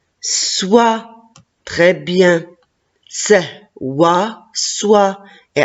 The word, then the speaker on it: soie: très bien c'est oit soi et à la fin la lettre e jeu là prononcent pas c'est un ver à